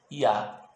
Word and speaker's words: Yah: A junção dessas 2 letras nos traz o nome do Eterno, que a pronúncia certa é Yah, que significa eu sou.